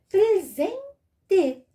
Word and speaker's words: presente: Olha só vogal vogal pronuncie o z mas escrevo com s presente presente falta alguma coisinha